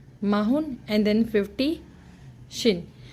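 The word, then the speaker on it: 쉰: मुश्किल बात रही होगी सो 50 it's Shin S डब्लू आई एन जो डब् है व जज की साट देगा सो it's Shin S डब्लू आई N Shin 51 Shin हना 52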